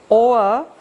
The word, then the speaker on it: o'er: Hung this o'er the V of over is omitted, so there's just a little mark there to show that something's been left out, so we pronounce it as one syllable instead of two, or.